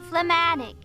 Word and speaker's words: phlegmatic: Phlegmatic. Did you pronounce the yes. G? Phlegmatic. Like phlegm?